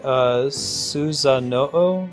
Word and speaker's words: Susanoo: Is it, should I be pronouncing that, Susanoo? Is that right? Yeah, the legendary swordsman who fought Orochi. Exactly, Sornas. Hey, thanks, game. It's Susanuo? Uo, not Oo.